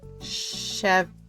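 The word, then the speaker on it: Chevre: I don't want Chev. Wait, you don't pronounce the E at the end.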